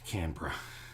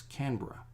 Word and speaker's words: Canberra: Oh yeah, Canberra. The capital city of Australia is not Sydney. It's Canberra, but it's spelled Canberra. But we just put that all in one. It's Canberra.